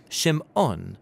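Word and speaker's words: שמעון: has a son and she names him simon or in hebrew shim on because she says the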